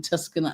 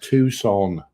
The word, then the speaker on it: Tucson: Allison saying that it's 110 this weekend in Tuscan, Arizona. Tucson. What did I say? Tucson. How do you know it's pronounced like that?